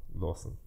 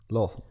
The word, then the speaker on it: Larsson: Emil Larsson. Larsson.